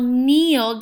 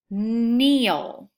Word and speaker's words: kneel: Glisson glisten Glisan number three meal I will kneel down on the floor to pick up a piece of paper kneel number four design I cannot wait to design